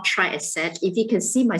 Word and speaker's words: Triaset: i'm from company called try asset if you can see my slides there um try i said t-r-i-a-s-e-t just to ensure that you know how to pronounce that now um what